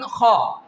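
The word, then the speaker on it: خاء: Now comes to the third pair which is Ghain Khaa. This pair is pronounced from that part which is towards your mouth. How can we pronounce this pair? Ghain Khaa. Ghain Khaa. Okay?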